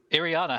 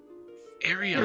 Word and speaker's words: Ireena: Ireena, have you ever met anybody like Krim? Ireena. Oh, Ireena. What did I call her? Ariana?